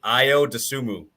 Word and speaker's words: Ayo Dosunmu: I think it's Ayo Dosunmu is how you say it.